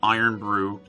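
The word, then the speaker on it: Irn-Bru: versions of it before that different people had iron Bru spelled like iro and BR eak w TW and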